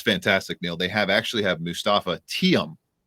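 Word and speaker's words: Moustapha Thiam: So we love that out of them, and we can officially note Mustafa Thiem is how you pronounce it, because I was screwing it up and so was Neil.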